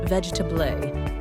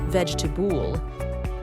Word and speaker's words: vegetable: For example, many learners say vegetable as vegetable with four syllables, but it's actually pronounced vegetable, just three syllables.